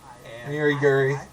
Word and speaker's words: Uri Guri: So, here's my bio, Uri Guri, it rhymes.